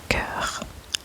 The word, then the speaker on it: cœur: Le mot suivant est cœur, cœur, cœur, cœur, cœur, cœur, cœur, cœur, cœur, cœur, cœur.